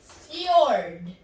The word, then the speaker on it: fjord: Now you have number 9, which is fjord. The J used, pronounce it alphabetically Y.